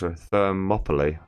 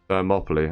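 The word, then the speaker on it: Thermopylae: Thermopoly. Thermopoly. Okay. That's how you pronounce it. So, it's like Monopoly but with fur in front of it and no N.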